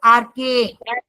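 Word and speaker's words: Archaea: Second group इसको pronounce करते हैं आर्के।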